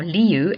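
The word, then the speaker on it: Lieu: Now, leu l i eu is pronounced exactly the same as the word for lion in Dutch and Africans.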